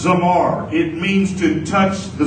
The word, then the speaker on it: zamar: but let's keep going the next one is zamar z m a r and is pronounced zamar it means to touch